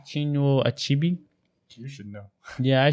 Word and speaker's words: Chinua Achebe: How do you pronounce his name? Chinua Achebe. You should know. Yeah, I should know. Chinua Achebe, amazing guy.